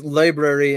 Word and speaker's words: LBRY: I pronounce it library. I think that's how you're supposed to, but it's LBRY.